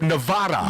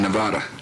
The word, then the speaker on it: Nevada: messing it up in Nevada in Nevada in Nevada no disrespect ECT to the president but when you're here you need to pronounce the state's name the way we do the president got the